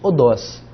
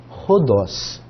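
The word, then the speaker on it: ὁδός: E nós não lemos odós, nós lemos rodós.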